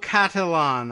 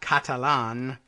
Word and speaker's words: Cattelan: The creation of contemporary artist Maurizio Cattelan, I'm guessing. It's C-A-T-T, there's two T's in there. Cattelan, not Catalan, but I don't know how else you would pronounce that.